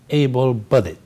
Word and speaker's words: able-bodied: word able but it it's an adjective and the stress is on bodied so we say able-bodied now able-bodied people are